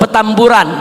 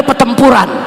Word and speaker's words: Petamburan: Di mana jangan salah sebut petamburan bukan petempuran. Sebab dulu ada jenderal salah baca. Dia bacanya pertempuran.